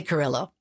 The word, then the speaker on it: Carrillo: I say Carrillo.